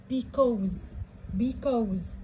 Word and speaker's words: because: بصوا يلا نشوف ادوات ربط تاني، هنكمل ادوات ربط تاني، بس ايه بقى، بصوا هي عبارة عن ايه اهي، زي كلمة because السي بتتنطق حرف الكي.